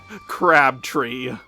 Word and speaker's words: Crabtree: And her name is pronounced Crabtree.